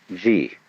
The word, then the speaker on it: Ji: First of all, there is a level of being which we will call Ji. The word Ji, which is Japanese way of pronouncing the Chinese Chi, is the world of things and events.